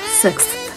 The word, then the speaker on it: sixth: People find it difficult to pronounce TH in general, especially after an X. Sixth.